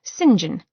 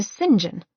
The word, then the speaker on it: St John: her he'd called himself singen or that's what she'd heard him say yet most of their acquaint es called him sin later he'd explained that the English pronounced the name St John a singen thus his friends and